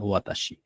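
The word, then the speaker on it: は: হা এটা একটা topic word এ সেন্টেন্সের টপিক ওয়ার্ড সাবজেক্ট এই সাবজেক্টটাকে চেনার জন্য আমরা হা টা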